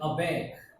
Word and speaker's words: aback: Just like Chandragupta was taken aback by the answer of his teacher, Chanak. Taken. TAKEN. Taken. Aback. We can learn it. Aback and CK. So C and K both are together pronounced like K.